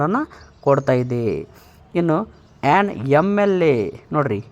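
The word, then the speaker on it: MLA: sound ಮೊದಲು ಬರುತ್ತೆ ಎಂ ಎಂ ಅನ್ನುವಂತ ಒಂದು ಈ ಸೌಂಡ್ ಅಲ್ಲಿ ಎ ಅನ್ನುವುದು ಮೊದಲು ಬರೋದ್ರಿಂದ ಅದು ಓವೆಲ್ ಸೌಂಡ್ ಆಗಿರುತ್ತೆ ಅದೇ ರೀತಿ ಆನ್ ಎಂ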